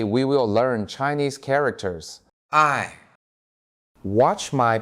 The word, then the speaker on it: 爱: I, Watch my pronunciation.